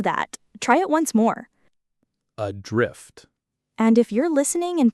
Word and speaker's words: adrift: I've heard people stress the first syllable and say adrift, but that's not quite right. Right, the stress falls on the second syllable, adrift. The first syllable is very light, almost swallowed. Adrift.